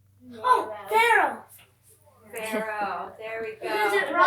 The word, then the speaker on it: Pharaoh: I already know, but Rhymes with arrow. oh, Pharaoh.